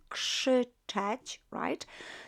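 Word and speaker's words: krzyczeć: shout should touch so k r z is pronounced as more like k s that should touch so what do you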